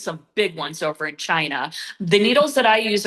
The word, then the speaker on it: qi: organs and there's something called chi energy which it's spelled qi.